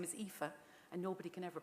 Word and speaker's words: Aoife: So my first name is Aoife, and nobody can ever pronounce it.